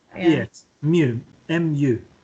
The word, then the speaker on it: mu: MU. M. Okay. U. Mu. Sounds funny, but that's how you say it.